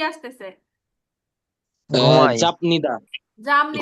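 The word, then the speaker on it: 잡니다: চাপনিদা জামনিদা। ঘুমাই চাপনিদা জাপনিদা না, উচ্চারণ হবে জামনি। জামনিদা। জামনিদা, এখানে মিয়মের জাম উচ্চারণ হবে। বিয়োগটার উচ্চারণ জাম হবে ম ও মিয়মের মতো, ম।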